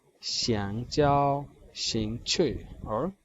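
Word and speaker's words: 兴趣: Next is शिंग छुई. शिंग छुई. शिंग छुई. शिंग छुई क्योंकि दोनों पे आप देखिएगा फोर्थ टोन है, तो दोनों डिसेंडिंग ऑर्डर में हमारे पास ऐसी प्रोनाउंसिएशन आएगी शिंग छुई.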